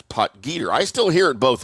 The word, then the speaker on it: Potgieter: Uh I always thought it was poter but apparently it is poter.